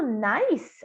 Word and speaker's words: nice: E aqui o nice, a mesma coisa, esse E no final é mudo.